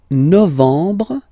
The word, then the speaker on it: novembre: Octobre, novembre, novembre, novembre, ok, E-M, en, novembre, novembre, and the last